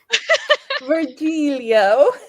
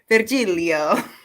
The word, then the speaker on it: Virgilio: but I heard it earlier I said Leo virgilio here there's a lot of plan virgilio nice it's good to know we should have been calling him virgilio this entire time yeah it's just kind of